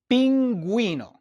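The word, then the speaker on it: pingüino: If you have a G, the U with the two dots and the I, then you must pronounce the U. And so you would say gu for the word pinguino.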